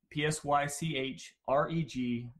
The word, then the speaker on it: Psychreg: out there and it's psych reg dot org psy CH r EG org and it's pronounced psych reg not sacred act mispronounced enough but most of us as